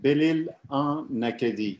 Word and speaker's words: Belle-Ile-en-Acadie: In French, it's called Belle-Ile-en-Acadie. It's actually almost the same. It's just the in that becomes an en. So Belle-Ile-en-Acadie.